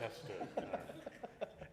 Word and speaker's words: Westchester: Matt produces storytelling videos and short films, documentaries for New York City, and is it Westchester or Westchester? I just want to make sure I'm pronouncing it right. Westchester.